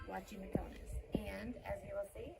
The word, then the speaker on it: Guachimontones: you spell it um it's actually pronounced with a W watching mcon and as you will